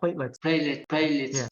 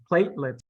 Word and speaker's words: platelets: and then plate so platelets so trying to pronounce each word separately yeah good so like let's go let's go okay yeah let's and then plate like a plate that good platelets okay let's good see